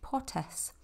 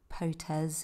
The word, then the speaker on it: Potes: go in Los Picos, which is Potes. It's not Potes, it's not Potes. There are no Z's in Spanish. Well, there are Z's, but they're not pronounced as a hard Z like we do in English.